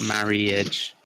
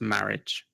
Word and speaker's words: marriage: So the word is marriage, and you were pronouncing the I. If you pronounce the I, it sounds a bit straight, marriage. So the I is actually, imagine the I's not there, and it's just marriage.